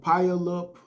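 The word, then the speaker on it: Puyallup: unfortunate incident that happened in the town of pile up Washington which is around 30 miles south of Seattle how you spell it is p-u-y-a-l-l-u-p which involved a barber that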